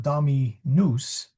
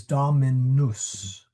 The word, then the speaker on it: dominus: It rhymes with mus or maybe. Yeah. Doesn't rhyme with noose. It's not dominous. It is domi. Sorry, now I'm putting a the uh the wrong vowels. It is dominus.